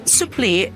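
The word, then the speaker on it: supplì: Look, s u double p l i with the accent on the eye.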